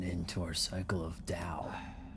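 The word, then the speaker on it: Tao: to our cycle of Dao. T AO is pronounced Dao.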